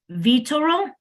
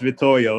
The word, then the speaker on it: Vittorio: With that, Vitoro, I'm not pronouncing it right. Yeah, it's Vittorio.